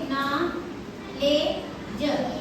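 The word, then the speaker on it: knowledge: अशी भाषा आहे ती आता हा शब्द आहे न ले ज आपण हे शिकणार आहे तर लक्षात घ्या आता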